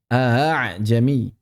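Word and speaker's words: ءَأَعْجَمِيٌّ: Dan sudah kita bahas yang dimaksud tashil adalah mencampur suara hamzah dengan mad atau alif. Aha. Bukan a suaranya aha.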